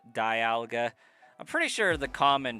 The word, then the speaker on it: Dialga: It's because a vowel after another vowel typically makes the long vowel sound.